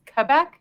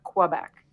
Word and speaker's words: Quebec: It's Quebec, not Quebec. It's actually Quebec.